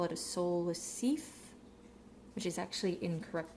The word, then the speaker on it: Seife: When you look at the Seife or the Seife, S-E-I, in German, I before E is E, and E before I is I. Essentially, you're pronouncing the second letter in that pair.